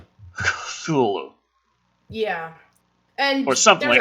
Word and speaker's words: Cthulhu: So, well, technically, Cthulhu isn't pronounced Cthulhu, if I'm not mistaken. That's true. It depends on who you ask, but I think they say it's supposed to be more guttural, like a Cthulhu.